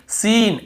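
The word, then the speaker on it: scene: और देखिए सीन, SEN, सीन ऐसे पढ़ रहे हैं, यहाँ पर भी सी को नहीं पढ़ रहे, स्किन, स्किन नहीं पढ़ रहे।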